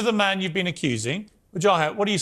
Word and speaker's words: Wajahat: me go to the man you've been accusing joh hat what do you say to that well first of all excellent pronunciation of my name Brooke thank you also